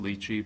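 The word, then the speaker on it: Litchi: landed on one that i think is pronounced lychee but l-i-t-c-h-i and it's a third-party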